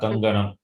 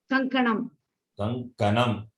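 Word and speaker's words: कङ्कणम्: Not Kanganam. Kanganam is in Tamil. Kankanam. Kankanam. Ka, not Ga.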